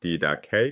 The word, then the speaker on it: Didache: The Didache — pronounced DID-ah-kay, Greek for 'teaching' — bears the full title The Teaching of the Twelve Apostles.